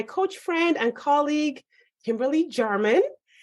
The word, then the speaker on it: Jarman: friend and colleague, Kimberly Jarman. Is that how you pronounce your name? Yep, you nailed it. I was like, wait a second. Sometimes J's pronounced differently.